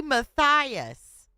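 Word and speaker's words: Mathias: So one T. same pronunciation, but Bessie Matthias.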